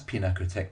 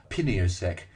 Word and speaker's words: Pinakothek: We could never pronounce Pinakothek properly. We called it Piniosek, Pintaktek, and the Happy Tack.